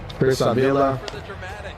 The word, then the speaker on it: Chris Avila: All right, so we got Chris Avila. That's how you pronounce it.